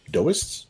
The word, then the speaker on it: Taoists: Kevin says, remember, Teo is pronounced do. Do or Dao? D-W Dao. Taoism? Taoism? So Taoism? Dao? So Taoists? Doists?